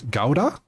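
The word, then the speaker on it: Gouda: DJ uh in German it's gauda.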